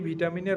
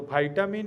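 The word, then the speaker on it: vitamin: এই ভিটামিনের অভাবে এই মায়ের দুধ ক্ষরণ হ্রস পায় এবং বন্ধক্ত রোগ লক্ষণ প্রকাশ পেয়ে থাকে। তো ভাইটামিন এবং ভিটামিন একই শব্দের ভিন্ন উচ্চারণ। ওকে?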